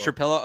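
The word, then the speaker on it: Trapilo: tackle, Taylor, Trapillo, I asked him how to pronounce Trapillo. it. Oh, it's Trapillo.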